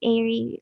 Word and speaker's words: Aeri: It's Airy, like EYRI, but yeah, it's spelled as AERI.